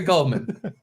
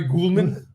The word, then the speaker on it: Gulman: all right so Gary Gman it should be Gary gulman Gman someone call have Kevin Brennan call Gary gullman and tell him he's pronouncing his name wrong it's gulman like Golden's mustard son of a [